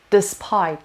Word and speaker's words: despite: word is the spy despite the stresses on the second syllable stress reaction despite is